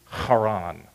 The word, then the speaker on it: Haran: That baby brother's name was Haran. Or if you want to try to pronounce Hebrew, Haran.